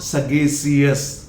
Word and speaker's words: sagacious: जैसे कि SAGACIOUS, नॉट sagacious, it is sagacious. Shus.